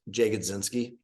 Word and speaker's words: Jagodzinski: And if you just, my last name is a mouthful, Jagodzinski.